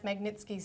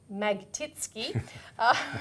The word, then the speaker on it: Magnitsky's: labour mp brendan o'connor couldn't even pronounce magnitsky's name he tripped over it several times even calling him magtitsky which is interesting but